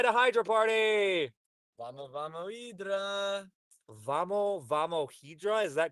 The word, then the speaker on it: Hydra: Portuguese is their H's are kind of like silent so it's Eedra.